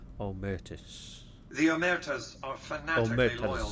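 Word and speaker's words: Omertas: okay well we can check on the omus that's how you pronounce it omus the eras are fanatically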